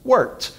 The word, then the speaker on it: wort: It's spelled wort, but it's actually pronounced wort.